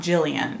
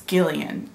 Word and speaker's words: Gillian: think it's Gillian right it's a hard G G it's not Gillian it's Gillian Gillian Gillian this book is about